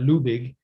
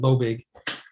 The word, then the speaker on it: Loebig: how you spell it the german name has a german etiology ideology in germany they pronounced that lubig but when we americanized it when my family came to the united states so we called it we called my last name lobeg so it's uh kind